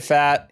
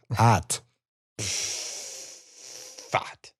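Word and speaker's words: Pfaadt: You say it hot. Yeah, thank you. Brandon fat. Yeah, hot fat.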